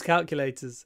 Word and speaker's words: calculator: can I use your calculator obviously most people don't use calculators anymore well except the calculator app on your phone perhaps calculator the stress on the first syllable c c c calculator calculator the next one conduct